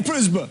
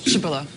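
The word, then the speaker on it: Przybyla: The PRZ is like a psh sound. In Polish. Shibilla.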